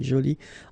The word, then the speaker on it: jolie: Okay, so you can see that you put this e but then you don't pronounce it. Okay, so it's joli. So basically the two adjectives, masculine joli and feminine jolie, are pronounced the same way.